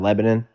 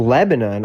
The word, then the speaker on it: Lebanon: on anything since Hiroshima or some shit on Lebanon.